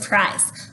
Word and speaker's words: prize: All right, prize. P-R-I-Z. Prize. Let's go ahead and write it. P-R-I-Z-E. Now I put the silent E because the I is saying its name. Per-eyes.